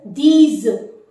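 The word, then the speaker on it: dix: using earlier uh so the number 10 is these these so then like the English word these you have to pronounce in the same manner these so the dzm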